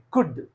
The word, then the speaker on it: could: four L plus d L comes before D then L is always silent for example c l c l could but not could could